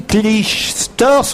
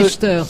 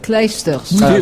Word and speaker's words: Clijsters: J'ai dit Kim Clijsters, on ne prononce Non, pas le... Kleisters. Voilà, je dois dire Clijsters. Kleisters.